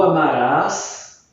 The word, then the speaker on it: amarás: Essas palavras, portanto, têm acento porque elas são oxítonas e a pronúncia também vai modificar. Então, ó, tu amarás, ele ou ela amará.